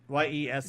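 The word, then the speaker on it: Yesss: playing a character called yes how do you pronounce that ye s s just the way you're doing it yes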